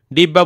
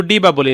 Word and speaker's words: ডিব্বা: ডিব্বা বলতে আমরা শুধু ডিবা বলি না, আমরা ডিব্বাই বলি পুরোটা।